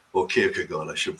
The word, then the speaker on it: Kierkegaard: Abie Kierkegaard, if you would have heard of Kierkegaard, or Kierkegaard, I should pronounce it properly, Christian existentialism.